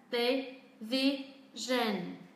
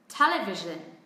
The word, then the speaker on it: television: Television. Đấy, hoàn toàn không có trọng âm nhá. Chúng ta sẽ xuống giọng ở những âm tiết còn lại và đọc nó ngắn hơn một chút. Television. Television.